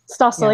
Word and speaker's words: Stossel: How do you pronounce his name? Stossel, yeah.